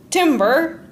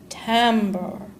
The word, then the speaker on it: timbre: Now, that word's not pronounced timber, like trees falling in a forest, but timbre.